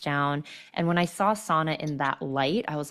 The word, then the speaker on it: sauna: Sauna, or sauna, it's pronounced in Finnish.